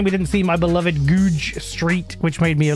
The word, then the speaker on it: Goodge Street: Um because it spelled like Goodge. It spelled like Goodge, but it's Goodge, but it's Goodge.